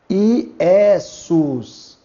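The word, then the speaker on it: Ἰησοῦς: Novamente ocorre um encontro ditongal. Ômicron com Y. Que nós leremos sempre U. Então aqui está Iessos.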